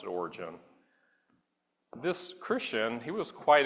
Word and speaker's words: Origen: I'm going to pronounce it Origen.